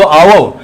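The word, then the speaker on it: hour: phonetic alphabet के अनुसार इसका प्रोनंसिएशन तो आवर आवर में इसमें ओ देखेंगे ओ से शुरू हो रहा है एट साइलेंट है एच जब साइलेंट है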